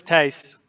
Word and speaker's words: Thijs: to get started because if you're not Dutch, you will not pronounce it right. So it's Thijs, but good to be here.